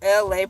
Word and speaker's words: Elay: It's your girl LA, pronounced like LA, like the city.